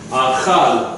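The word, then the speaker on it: אכל: Achal. Aka. Everyone say achal. Aka. Achal. Say it again. Achal. Aka. Okay, give it to me. Olive is silent. The A sound. Ka. There's no dagesh, so it's hard.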